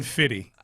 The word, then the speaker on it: 50 Cent: too hard to I think that's just how it's pronounced. You just don't even say the scent anymore. Just say fitty.